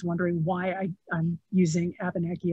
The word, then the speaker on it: Abenaki: know abunaki history uh by the way i say abeneki because that's how you say it in american english but in uh the avenue language right in french it's a benekey so if if you are